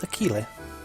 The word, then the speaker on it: Akile: My name's Akile. I assume. Like Achilles without the S.